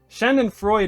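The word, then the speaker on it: Schadenfreude: guess yeah all right shanden fre shanden Freud is how you say it that's right good hey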